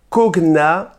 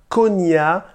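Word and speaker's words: cognat: Alors, j'avoue que je ne sais pas trop comment ça se prononce, moi je pense que je vais dire konya, ça s'écrit C-O-G-N-A-T, les konya, voilà, c'est comme ça que je vais les prononcer.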